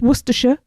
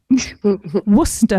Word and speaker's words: Worcester: Which is how you say it, people. It's not Worcestershire. Worcester.